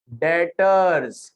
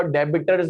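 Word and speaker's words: debtors: डेटर्स। क्या है ये? बी साइलेंट अल्लाह के बंदों, कभी भी किसी कंपनी में जाओ डेबिटर्स नहीं बोलना, बहुत बुरा लगता है।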